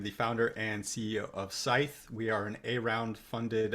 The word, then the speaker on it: Scythe: for pronouncing it correctly it is neither skyth like science nor sith like star wars so i am bryson bort i am the founder and ceo of scythe we are an around